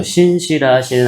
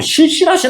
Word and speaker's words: 신실하신: 제가 발음을 잘하라고 얘기했어요. 실신. 여기 잘못 얘기하면 안 큰일 난다. 그래서 우리 찬양 중에도 신실하신 하나님 있는데 그 누가 예전에 있던 교회에서 발음을 잘못해서 자꾸 실실하신 하나님이라고 부르는 것 같아요.